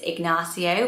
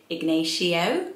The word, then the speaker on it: Ignacio: how you pronounce it it's ignacio whereas i would be tempted to say ignatio ignacio with this i